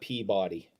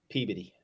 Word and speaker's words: Peabody: in that City Peabody it's not Peabody Peabody Yola freaks keep sticky eating freaks it's Peabody that is also enough